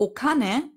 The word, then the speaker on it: お金: Also, wir haben gesagt, Kin heißt Gold, aber Okane, das ist das gleiche Kanji, hat dann die andere Lesung, die japanische Lesung. Und da spricht man es eben Kane aus. Okane, das Geld.